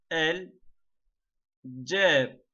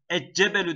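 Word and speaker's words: الجبل: Gameri harflerde lam okunur, şemsi harflerde okunmaz. Burada asıl olan şey okumadaki kolaylıktır. Okumaya çalışın. Mesela el şemsü demek biraz daha zorlar. Eccebelü demek el cebelü yerine zorlar. Dili tırmalar.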